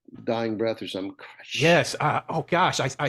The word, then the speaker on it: Koresh: last name, it was he said it sounds like a gargle death. That's how you pronounce it. And so I cannot imagine being the negotiator on that call You're talking about and already Koresh when getting he said triggered.